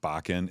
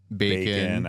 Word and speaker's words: Bakken: Bacan is correct. Bacan, Bacon, I get them all.